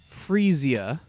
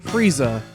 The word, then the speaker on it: Freesia: not a flower nerd I believe it's pronounced freesia however I'm not gonna lie up until recording this this audio right here I've been calling it Frieza like the Dragon Ball Z villain so for all